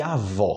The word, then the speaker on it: avó: do avô e avó quando eu falo avô em português eu tô falando do pai do meu pai ok homem OK avô o o como fala avó é a mulher amanhã na minha mãe e minha avó a pronúncia no final desse o é muito diferente em português qualquer brasileiro sabe a diferença mas a galera tá